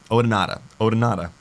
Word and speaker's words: Odonata: Odonata.